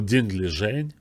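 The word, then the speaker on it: Ding Liren: I want to see Dingley Ren, or Dingley Zheng, as they properly pronounce, properly, at least the closest I can get to Chinese pronunciation.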